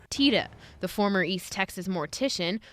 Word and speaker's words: Tiede: introduced yourself to Lynn you said TAA yes ta ta yes TAA I get called everything as long as they call me to lunch I'm I'm all right TAA the former East Texas